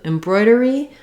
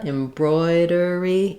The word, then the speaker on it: embroidery: Then when we move to embroidery, we simply add the E to embroider. So same idea, embroidery, embroidery. Same thing where you can start with broi, broidery, embroidery.